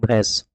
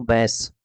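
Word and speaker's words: बैंस: भैंस इकबाल सिंह भैंस आई am sorry मैं इनको भैंस इसलिए प्रोनाउंस कर रहा हूं य एक्चुअल में है तो बैस लेकिन बस याद रखने के लिए ठीक है इकबाल सिंह बैस यह है क्या इस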